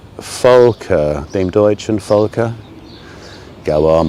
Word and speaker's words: Volke: Dem Deutschen with a V, but it's pronounced as an F. Volker.